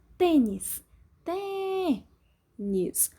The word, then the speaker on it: tênis: Tênis, tênis. Som mais forte é o T, som fechado, acento circunflexo.